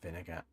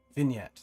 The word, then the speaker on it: vignette: shows off Billy's blue head I hate that vinegar Vin vignette vignette vignette that's how you say it it's late all